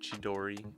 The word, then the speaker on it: Chidori: Um, it's pronounced chidori.